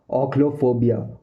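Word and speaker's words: ochlophobia: ओक्लोफोबिया, ओक्लोफोबिया, ओक्लोफोबिया, ओक्लोफोबिया।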